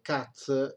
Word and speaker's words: Katz: occulta di debiti cazzo non ridete perché dunque cazzo si pronuncia così cup si scrive cat è un